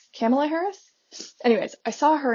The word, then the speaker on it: Kamala: And she said it's like Pamela with a K. Camela Camela Harris.